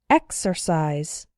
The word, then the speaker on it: exercise: followed by a vowel, but the strong syllable is not immediately after the X, so the X is pronounced ks. Those words are exercise and execute.